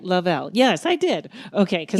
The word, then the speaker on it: Lovell: Lovell. Right, I said it right. Lovell.